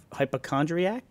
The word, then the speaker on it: hypochondriac: I had this like is there a t on the end of that W hypochondriac no I think it's just a c did I say did